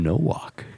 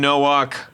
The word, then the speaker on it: Nowak: I think it's Tim Nowak. Well, that's right. I think We're going to say it right. You said it right. Tim Nowak.